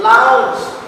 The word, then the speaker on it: lounge: Here, G pronunciation is CH. Lounge, not lounge. Pronunciation is lounge.